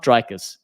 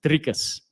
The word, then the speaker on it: Dricus: just get this right it's not drers to all the Americans listening it's not Dr it's drias okay if you can't pronounce